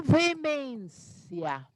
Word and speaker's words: veemência: So, com veemência.